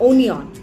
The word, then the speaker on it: onion: Yes, many people mispronounce it as onion. It is not onion, it is onion, which is pyaz, onion.